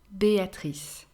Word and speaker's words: Béatrice: Béatrice. Mixed gay name could be Benedict. Benedict. And the pronunciation is the same for the feminine version, Benedict, but we add an E for the feminine version.